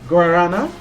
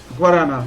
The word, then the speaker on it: guarana: right now of uh gorarana tell me if I'm mispronouncing that it's uh guarana that's a drink from